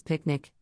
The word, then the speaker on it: PQNK: our soil and environment for future Generations tqnk pronounced this picnic stands for Peter trattini zombie which means sustainable